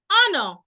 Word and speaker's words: honor: also when you have words that have silent h for example if you have words like honor honor as silent h h o n o u r the H is so it is wrong for you to add the H to it when you pronounce it you should just say honor because it starts with a vowel sound no no no consonant sound honor air not hair